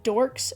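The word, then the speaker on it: Dhorks: the Paranormal is called dorks with silent h spelled d h o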